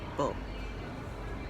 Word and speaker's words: comfortable: So the fur, most people is don't say that. We are saying they are saying comfortable without the fur, make it more efficient to say and more easy.